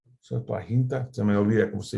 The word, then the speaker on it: Septuaginta: En primer lugar, porque el autor de Hebreos usa el Septuaginte, así se dice, Septuaginta, se me olvida cómo se dice en español.